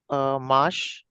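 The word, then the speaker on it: match: है शा nice similarly अगर हम एम ए टी सी एच प्र करने की कोशिश करें तो माश वेरी नाइस माश ठीक है अब आगे वाले जो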